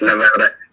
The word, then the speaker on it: Nevada: Like, what are the laws over there in Nevada? I said it right this time. Yes, Nevada.